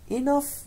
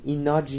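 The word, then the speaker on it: enough: چی بهش میگن ایناف دقت کنید نحوه تلفظش رو ایناف ایناف نگاه کنین ایج نیست یا ایخ نیست ایناف اناف ایناف نگاه کن این جی و ا کنار هم ف تلفظ میشن ایناف ایف ایناف پس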